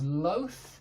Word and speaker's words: loath: That's one of these THs. It's one like that. It's voiceless.